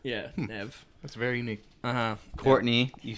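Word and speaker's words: Neve: are cool how do you say her name nev nev yeah nev that's very unique courtney you say courtney cop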